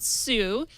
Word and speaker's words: Tsu: The T is silent. I thought it was like the legal action. I believe it's because it's Asian made, and in Japanese, if you pronounce something that's TS, it would be Su with the S. Su. Yeah. Su. Like tsunami.